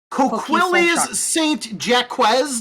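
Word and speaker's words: Coquilles Saint-Jacques: Or You don't is pronounce the that T. Coquilles Saint Jacques Day?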